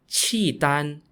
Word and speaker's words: Khitan: The Liao Dynasty was ruled by an ethnic group called the Khitan, spelt Khitan, and is pronounced Qidan in Chinese.